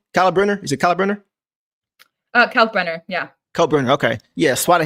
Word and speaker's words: Kalkbrenner: Kalkbrenner, yeah.